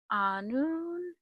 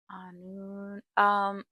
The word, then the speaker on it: Annwn: Um, I read The Prince of Anun. Anun.